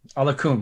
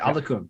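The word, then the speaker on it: Oluokun: Folson Alokun. Alokun. That's how you say it. Alokun.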